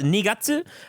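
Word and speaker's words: 二月: It's nigatsu. The ni as in two. Gatsu is part of the kanji for moon. So second moon, second month, February.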